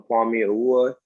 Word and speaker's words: Kwame Awua: I'm Kwame Awua. Yes, Adam, you pronounced it right.